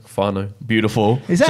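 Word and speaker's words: whānau: Sorry, I don't want to butcher the pronunciation. Fano. Beautiful. Is that how you say it? It's Māori. Yeah. Fano.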